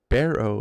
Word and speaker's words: Barrow: Ed says, Barrow is how they say it.